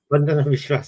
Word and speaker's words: Vandana Vishwas: Is that how you pronounce it? Vandana Vishwas. Vandana Vishwas. Okay.